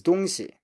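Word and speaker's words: 东西: Next one is 东西.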